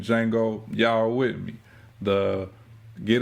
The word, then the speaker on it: Django: Now, on the other hand, like my dog Chaos, T is silent, like the D in Django, y'all with me.